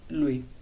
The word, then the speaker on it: lui: Después tenemos el pronombre el en italiano se dice Luis.